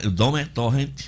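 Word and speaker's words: Domènec Torrent: O Sampaoli no Atlético Mineiro e o Domenech Torrent no Flamengo.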